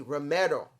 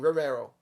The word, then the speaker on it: Romero: i'm just saying now ac romero i finally said it right because i kept saying rivero romero versus and eddie